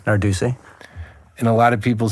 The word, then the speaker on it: Narducy: say your last name Nardi and a lot of people say Narducci and how do you feel about that um well originally it was CCI and it got